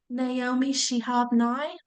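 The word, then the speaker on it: Naomi Shihab Nye: Can you pronounce the author's name? Naomi Shehabni.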